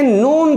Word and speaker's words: نون: دیکھتے ہیں نون کا مخرج کہاں سے ادا ہوتا ہے. نون جیسے ہی آپ نون کہیں گے خود بخود آواز جو ہے ناک سے نکلے گی.